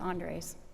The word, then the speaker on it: Andres: say it probably butchered you had it right the first time it's Andres I'm my name is